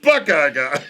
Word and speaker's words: Buck I Guy: It's I spelled like it. Buckeye Guy, but it's pronounced Buckeye Guy.